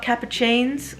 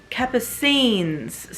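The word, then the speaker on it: Capucines: wrong this whole time it's not cappuccines like cappuccino which I always thought it was because spot the same um it's Kappa scenes someone corrected me online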